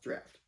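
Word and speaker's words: draught: It looks like it's spelled drought like cot, but I think it's pronounced draft.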